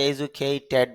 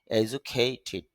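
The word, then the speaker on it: educated: সম্পাদক এজুকেট এজুখে স্বীকৃত করা এজুখেই যদি আমরা এজুকেইড বলি ট্যাড না ভার্বের শেষে যদি ইড যুক্ত হয় এবং ভার্বের শেষ সাউন্ডটা যদি ট বা ড হয় তখন রসয়কারের মত সাউন্ডটা হবে এজন্য উচ্চারণ হবে এজুকেটেড অর্থ হল শিক্ষিত এজুকেশন শিক্ষা যদি আমরা এডুকেশন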